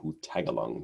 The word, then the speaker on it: Hutagalung: Joshua Hutagalung, that's Hutaga and Lung. That's how you say his name, Hutagalung.